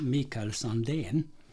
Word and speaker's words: Mikael Sandén: If we pronounce it in Swedish, it's Mikael Sandén, Sandén guitars.